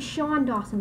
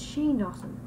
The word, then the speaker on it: Shane Dawson: so fast it's really they pronounced it Shawn Dawson it's Shane Dawson let's do um another